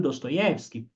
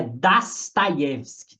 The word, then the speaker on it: Dostoiévski: Mas parece que a pronúncia é Dostoiévski. Troca o O por A.